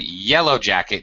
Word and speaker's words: yellow jacket: Notice that there's 2 syllables, so the stressed syllable, yellow, gets a lot more stress. Yellow jacket. All right, so we're not stressing both syllables, but the normally stressed syllable of the first word gets stressed.